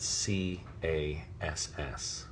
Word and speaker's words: Cas: pronunciation, they spelled it C-A-S-S, which is hard C followed by the vowel and consonant cluster that makes the sound ass.